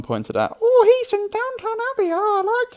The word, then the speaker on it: Downton: But Dan Stevens was in Downtown Abbey. Downton. Yeah, why'd you say it like that?